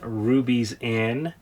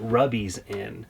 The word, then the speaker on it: Ruby's Inn: We're currently staying at Ruby's Inn, but it was hilarious when rolling up because the GPS pronounced it Rubby's Inn, so we referred to it as Rubby's for the duration of the trip.